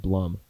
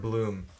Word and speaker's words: Blum: I forgot, but he was Edward Blum. Yeah, Edward Bloom. That dude is like. Or Edward Bloom. Yeah, yeah. Shit, it's spelled Blum, bro. I was doing it phonetically, but he's leading it.